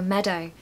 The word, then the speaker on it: meadow: Pronunciation tip for meadow, stress the first syllable. So meadow, meadow.